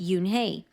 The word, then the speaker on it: Unhei: she nodded slowly yes it's pronounced Yoon hey and it means Grace